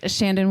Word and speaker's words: Chandon: or I'm Madison and I should say it's Shandon cuz people usually cannot spell my first name so they need that last name to find me do you want to